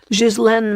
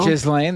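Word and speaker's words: Ghislaine: says she was instructed to Jizen Maxwell. Jislane.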